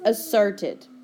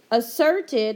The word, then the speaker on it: asserted: first vocabulary word is asserted asserted has twin consonants at the very beginning one is silent you can cross it out it has an R